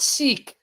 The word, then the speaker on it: Sikh: Oh, you're talking about Sikh. yes, Sikh. Yes, Sikhism. Seek and you'll find. Because you guys pronounce it like sick.